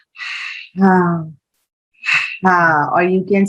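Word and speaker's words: حاء: So you will pronounce ha, and the articulation point of this letter is middle part of your throat, middle part of your throat. And this is also a light letter. So your tongue, your throat, all will remain relaxed, right?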